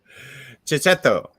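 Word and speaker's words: Checchetto: I will never stop Zdarsky's Daredevil simply because Marco Kiketo. Is that right? Am I doing that right? Right, Kato. What is the pronunciation we're going with today? Jess, how would you pronounce that gentleman's name? Chicheto.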